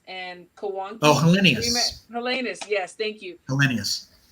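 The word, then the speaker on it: Helenius: I can't even pronounce the last name. Helonis and Kawanki. Oh, Hellenius.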